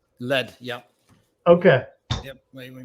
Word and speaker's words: Led: real quick um so am i pronouncing your last name correctly it's just lead lead yep okay yep wait